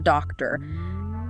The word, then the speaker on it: doctor: Or doctor. Emphasis on the first syllable.